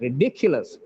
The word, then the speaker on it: ridiculous: next word is ridiculous the dick is stressed here ridiculous the pronunciation the stress